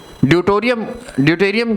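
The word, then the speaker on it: deuterium: इसके बाद एक हाइड्रोजन का ही आइसोटोप होता है, that is known as ड्यूटोरियम, DEUTORIUM, ड्यूटोरियम। ठीक है, शायद स्पेलिंग में कुछ गड़बड़ है।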